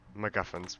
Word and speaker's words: MacGuffin: MacGuffins, that's the proper way to pronounce it.